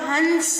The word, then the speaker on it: हंस: जैसे अगर हंस पे चंद्र बिंदु लगा हुआ है तो हंस हो जाएगा, और बिंदी लग रही है तो हंस हो जाएगा। इस तरीके से आपको पढ़ के इसका उच्चारण करना है।